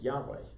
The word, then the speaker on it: Yahweh: So, for example, we pronounce God's name Yahweh. Well, you can pronounce it other ways too, because the A and the E that are in there are not told to us in the Bible.